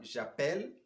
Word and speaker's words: j'appelle: Pour pouvoir ouvrir ce E et prononcer à la fin j'appelle, tu appelles, il appelle, elle appelle, on appelle. Mais à la première personne du pluriel, on va dire nous appelons. Donc le E est fermé.